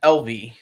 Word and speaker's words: Evely: Yeah, LV.